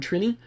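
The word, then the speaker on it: Trini: number three Gat of numeron triny I believe is how you say that one which of course means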